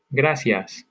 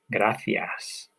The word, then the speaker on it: gracias: an S, as in gracias. In Spain, however, it's going to come out like this, gracias. It's not a lisp.